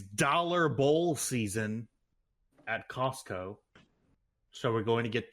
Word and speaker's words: Costco: You know, I actually appreciate that you pronounce the tea at Costco. Costco. Yeah, I also pronounce the T kind I don't